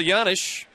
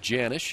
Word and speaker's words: Janish: pronounced yanish instead of janish and Paul one time was asked so why you know the Jay with the Y sound instead of the hard J his answer I don't